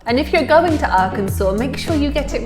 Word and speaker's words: Arkansas: learning curve yeah here's one that I've heard pronounced incorrectly many times in the UK sometimes by myself not a Kansas I think we should go to a clip